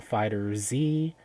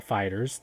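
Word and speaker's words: FighterZ: Fantasy Versus, Dragon Ball Fighter Z, or Dragon Ball Fighters, depending on how you want to pronounce that. Mhm. The wrong way that I did first, or the correct way I did second.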